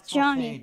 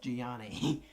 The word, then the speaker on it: Gianni: name is actually pronounced gianni it's spelled it's spelled really weird and eloquence eloquence says johnny too it's spelled g-i-a-n-n-i so it's gianni it'll say johnny but it's pronounced gianni costume um can you